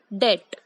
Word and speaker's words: debt: वी से इट एज डेट। I repeat, डेट। बी is silent here.